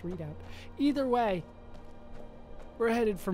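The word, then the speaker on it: Redoubt: to say that it has like a weird way of pronouncing that it's not it's like red out or or something like that but I swear it's just readout either way we're headed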